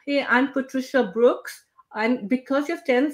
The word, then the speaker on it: Brooks: you ever experienced well here in France they they call me Patricia Brook they drop the ass I mean yeah you